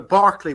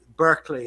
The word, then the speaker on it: Berkeley: moment over here uh you know Barkley which is the original pronunciation he went over uh to American you know uh Berkeley as you call it is named after